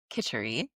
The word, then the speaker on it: Kitchari: Kitchari, pronounced Kitchari, has been used therapeutically in India for thousands